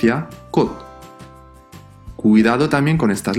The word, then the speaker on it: 꽃: the first one is KK - O - CH, but "CH" at the end of the word sounds like a soft "D" or "T". This word will not be pronounced "KKOCH", pronounced "KKOT".